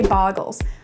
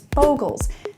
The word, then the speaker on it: Bogles: out of the way up top I say boggles I say it that way because that's how I learn to say it it's also adorable I know the technically correct way to pronounce the word is bogles say it however you like you do you